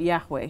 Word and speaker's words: Yahweh: Scholars I'll fill it out to say that Yahweh is the best uh pronunciation uh now according to the Bible this